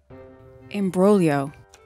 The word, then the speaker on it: imbroglio: Imbroglio.